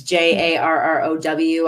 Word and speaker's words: Jarrow: I don't know if it's pronounced Yarrow or Jarrow, but it's Jarrow.